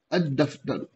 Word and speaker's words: الدفتر: طا، ظا، لام، نون۔ ان پر الف لام آئے گا تو صرف الف کا تلفظ ہوگا، لام کا تلفظ نہیں ہوگا۔ جیسے دفترن سے الدفتر، الدفتر، یہ ہے شمسی۔ اب یہاں پر الف تو پڑھو گے آپ، لیکن لام پڑھا نہیں جائے گا، سیدھا یہ دال پڑھا جائے گا جو لفظ ہے۔